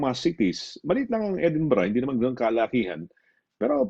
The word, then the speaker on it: Edinburgh: Kung tawagin ay Edinburgh or parang Bird pero Edinburgh ang pronunciation.